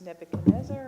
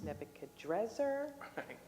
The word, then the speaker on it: Nebuchadnezzar: And then, you know, sometimes it's Nebuchadnezzar and then sometimes it's Nebuchadzzar, but um that's the same. They're saying that the Nebuchadres is actually closer to the Aadian pronunciation or would have been